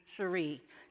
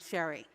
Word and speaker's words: Sheree: And when I was around 13, it was really clear to me that the pronunciation of my name was going to be Sheree, not Sherry.